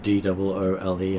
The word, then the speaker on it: Drule: Dull, not Drool. Doole.